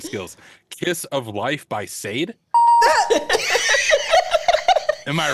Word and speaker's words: Sade: It's Sade. But yeah. You got it right. Oh, same thing. That's my pronunciation based on my Google name.